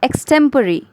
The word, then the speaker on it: extempore: तो उस स्पीच को एक्सटेम्परी स्पीच कहेंगे। बहुत लोग इस वर्ड को एक्सटेम्पोर कहते हैं, बट the correct pronunciation of this word is एक्सटेम्परी।